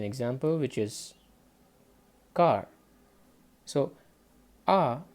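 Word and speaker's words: あ: which is car so ah basically you can just relate it to this sound car ah so this is the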